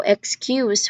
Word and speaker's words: excuse: Excuse me, but there is no excuse for this. Now, excuse here is a noun, so the stress is on the first syllable.